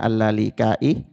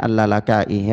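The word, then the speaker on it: al-Lalaka'i: Ada yang membacanya allalikai, makrufnya alalakai.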